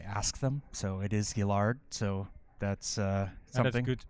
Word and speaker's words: Gillard: I actually learned how to pronounce their name. I actually asked them. So, it is Gillard.